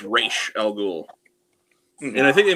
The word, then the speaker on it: Ra's al Ghul: Because it's not Ra's al Ghul, it's Ra's al Ghul.